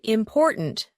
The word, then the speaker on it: important: a word example in the word important the stress is on the second syllable intonation meaning the rise